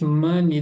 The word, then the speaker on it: money: How much money do you need? Importantíssimo essa palavra aqui a pronúncia money, né? O aqui tem som de e o e Y não fala a letra E.